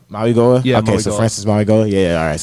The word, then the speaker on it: Mauigoa: It's Mauigoa. Mauigoa?